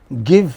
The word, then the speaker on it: give: Give has two, but you don't pronounce the second vowel.